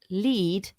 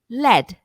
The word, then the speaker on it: lead: Now, this word can be pronounced lead or led.